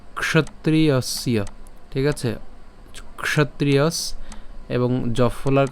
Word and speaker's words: ক্ষত্রিয়স্য: এরপর এর উচ্চারণ কেমন হবে, ক্ষ উচ্চারণ হবে, ক্ষ, ক এবং মূর্ধন্য ষ উচ্চারণ একসাথে উচ্চারণ করলে ক্ষ।